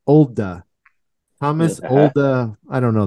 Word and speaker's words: Olde: Is that the way that Mike pronounced it, though? That's all I was saying. I heard him on a podcast. It's Olde.